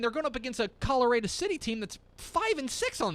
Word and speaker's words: Colorado: In Texas, that city is pronounced Colorado. Colorado. Not Colorado.